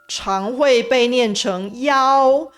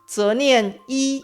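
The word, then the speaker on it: 一: số “1” trong số điện thoại… Thường được phát âm là “yāo” Ví dụ, 119 được phát âm là “yāo yāo jiǔ” Ở Đài Loan, nó được phát âm là “yī yī jiǔ” Phân số cũng thường được thấy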